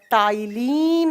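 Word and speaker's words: ptyalin: और लिखा जाता है यह पी से और प्रोनाउंस किया जाता है टी से। पी यहां पर साइलेंट रहता है।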